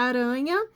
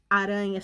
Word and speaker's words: aranha: no meio da palavra na palavra aranha a letra r representa som fraco fraco porque ele está sozinho no meio da palavra e na palavra serrar